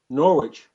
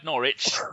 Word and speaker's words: Norwich: How do you say it? Norwich. No, that's not. Norwich.